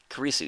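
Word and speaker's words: Kurisu: Or, Karisu, yeah, that's how you say it, okay.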